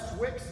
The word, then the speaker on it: Swicks: My email is swicks, S-W-I-C-K-S. Wicks rhymes with chicks.